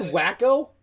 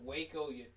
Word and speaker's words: Waco: zoomed in your finger is that wacko that's waco yeah that waco texas except for the scene they're called wacko anyways yeah but yeah